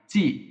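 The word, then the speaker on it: チ: সি এইচ আই, চি। এটা একটু আলাদা উচ্চারণ, আমি আপনাদেরকে এর আগেও বলেছিলাম একটু উচ্চারণটা একটু আলাদা।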